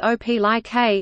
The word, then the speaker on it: Opelika: Opelika, pronounced Opelika, is a city in and the county seat of Lee County in the east-central part of the state of Alabama.